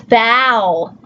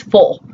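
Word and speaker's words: foal: the third one, F-O-A-L, and they say, no, it's foul, foul. But if you look up the word, we actually say it wrong. It's full, full, and that's a baby horse, right? Everyone wants to say foul, and it's not, it's full.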